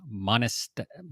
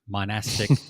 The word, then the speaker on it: monastic: in paying tribute to monist i can never say that word monastic brewing tradition i always